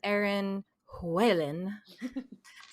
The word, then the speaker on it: Erin Whelan: here with aaron huelen did i say it right you did that's very good i know the h has to be sounded there it doesn't have to but it doesn't have to as long as it's not when i'm